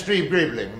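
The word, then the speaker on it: Streeb-Greebling: I'm so sorry yes my name is stre gribling the tea is silent as in F I'm um I would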